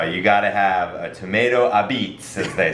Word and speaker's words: apizza: as they say and a beets is a New Haven only word for pizza it's spelled a-p-i-z-z-a and the place I grew up going in North Haven is called Grand the beets and uh it's you can always tell the locals uh because they say it correctly and everybody else says a pizza all right and next